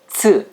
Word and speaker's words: ț: The name of this letter in the Romanian alphabet is ț or ț. It is pronounced like TS in bits.